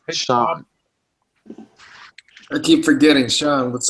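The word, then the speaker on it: Sian: what's up busy her name her name is pronounced Sean I keep forgetting Sean what's up Sean you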